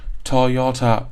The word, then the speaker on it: Toyota: A lot of Japanese students might pronounce the word like Toyota instead of Toyota.